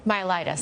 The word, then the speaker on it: myelitis: Myelitis.